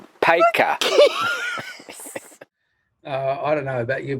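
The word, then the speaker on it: Paika: It's like P-A-I-K. Oh, P-I-K-A. No, P-A-I-K for car. Hey. P-I-K-A. No, P-A-I-K-A. Which is pronounced Peka.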